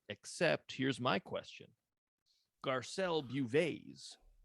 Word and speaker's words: Beauvais: Garcelle Bouvet's. How do you say it? Do you know? I think it's Beauvais.